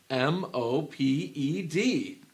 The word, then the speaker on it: moped: turn it on and off in your brain m o p e d Mo moped moped moped or mop it's the